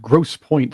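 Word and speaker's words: Grosse Pointe: a place that called Gross Point sounds absolutely fantastic for those of you who are listening out there you know a rich area when they have a word in it with a silent E it's just the requirement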